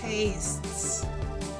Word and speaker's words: tastes: Tastes, tastes. Esta palabra es un poquito difícil de pronunciar en el sentido que termina con T, pero tenemos que ponerle la S.